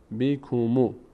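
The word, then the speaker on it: بِكُمُ: تا اینجا بیک مو این الف در هنگام وصل خونده نمیشه لام ساکن نیاز به آخرین حرکت ماقب داره که ضمه هست ضمه می‌چسبه به لام چی میشه بیکوم بیکوم بیکوم بیکوم بیکوم بیکوم بح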